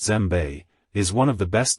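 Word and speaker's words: djembe: loved one three gem the West African gem pronounced zbe is one of the best known African drums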